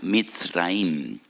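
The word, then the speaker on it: מצרים: esclavitud porque la palabra Egipto en hebreo se pronuncia misraim y en hebreo hay dos MS dos letras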